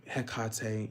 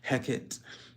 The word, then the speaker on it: Hecate: wonderful hak heti um heate you know there's many different ways to say her name heckit um the reason I